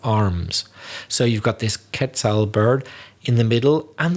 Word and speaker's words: quetzal: internet is that the quetzal bird i think it's pronounced that quetzal or quetzal bird is on the coat